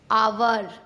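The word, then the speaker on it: hour: जब ओ से पहले एच आता है तब हमेशा एच साइलेंट होता है। जैसे ऑनर, ऑनेस्ट, आवर, इको।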